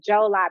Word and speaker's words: Jola: the jolie people and jola is spelled sometimes d-j-o-l-a and sometimes j-o-l-l-a but it's the jola people and you have jola